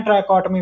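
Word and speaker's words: trichotomy: इसको पढ़ते हैं हम ट्राइकॉटमी। ठीक है, वैसे लिखने में टी के बाद भी ओ आता है, यानी ट्राइकॉटोमी नहीं हम कहते हैं, ट्राइकॉटमी हम कहते हैं।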